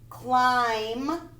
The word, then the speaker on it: climb: words to know another climb the b is silent climb full like full moon